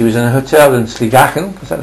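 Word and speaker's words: Sligachan: Skye, and she was in a hotel in Sligachen, is that how it's pronounced?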